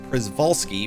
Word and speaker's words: Przewalski: uh but the the the horse according to the san diego zoo website um has three acceptable pronunciations uh so i went with uh prizvolsky because it's kind of the closest to the way it's spelled so that's just how